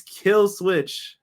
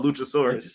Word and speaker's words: Killswitch: It's Killswitch. What did I say it wrong again? Oh, Luchasaurus.